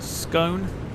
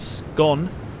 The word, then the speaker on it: scone: Brandon says, right, is it scone, pronounced like bone, or pronounced gone, like a... So basically, is it scone or a scone?